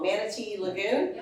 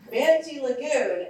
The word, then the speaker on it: Manatee Lagoon: We're at the Florida Power and Light, I'm gonna say it wrong, Manatee Lagoon. I did it. I always want to say Mammoth, I don't know why. Manatee Lagoon, and they're offering to